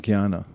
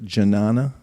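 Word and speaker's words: jñāna: a word in English that uh comes from Kiana to know is that why it spelled so funny yes as John everyone looks at janana and they look at no if you don't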